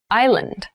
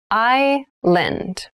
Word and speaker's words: island: thailand has many rainforests thailand has many rainforests island island i lend and island is a portion of land or